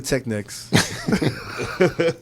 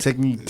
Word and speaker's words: Technics: to Technics. I can never call them Technics ever again, though, right? Techniques.